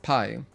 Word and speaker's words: Pi: it was amazing and it's PA or pronounced Pi okay so it's Pi like like 3.14 mathematics okay gotcha that's cool